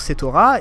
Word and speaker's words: Setora: Et je me suis dit, en fait, non, le nom, si on le traduit en japonais, donc ça, il se prononce Setora, et quand, si on l'écrit, ça, on l'écrit comme ça.